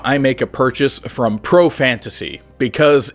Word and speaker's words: ProFantasy: However, for those of you who English is not your first language, profantasy rhymes with the word profanity, which means like a foul or rude language.